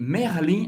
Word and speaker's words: Merlin: E Merlin, a gente vai falar Merlin. Merlin. O E tem um pouco mais aberto. Você vai pronunciar o R.